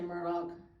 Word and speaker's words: Murdaugh: I'm saying it right Murdoch or murd people say it both ways I say Murdoch okay I worked as